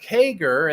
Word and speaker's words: CAGR: interesting the definition according to Investopedia is that kager and this that's the way you pronounce it as kager but this is what